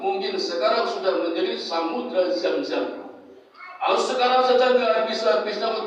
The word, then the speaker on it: Zamzam: Mesir bukan orang Arab Zoom bacanya zam Zoom zam zam zam ngumpul ngumpul biar airnya